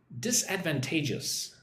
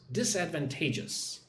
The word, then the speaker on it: disadvantageous: Disadvantageous. Listen and repeat that word after me. Disadvantageous. Five syllables. Disadvantageous. Disadvantage. I would put the most emphasis on the fourth syllable. 1 2 3 4.